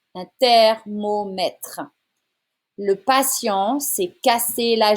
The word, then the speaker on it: thermomètre: Un thermomètre. It's not the sound in here. Un T sound. Un thermomètre.